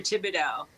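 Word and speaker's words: Thibodaux: when when you I see the sign for Tibido I say so you said how do you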